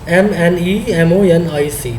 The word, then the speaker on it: mnemonic: We are using the mnemonic codes, MNEMONIC, that is known as, pronounced as the mnemonic codes.